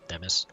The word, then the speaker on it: Themis: Oh, Themis. Rhymes with the Bemis. Ah, apologies for not introducing myself properly. My name is Themis, or Themis.